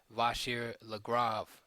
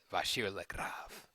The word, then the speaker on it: Vachier-Lagrave: number one GM Maxim vashir lra lra gotta say it like that right the French vashir lra um okay I like